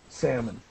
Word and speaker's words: salmon: We do not pronounce the L in salmon. Salmon.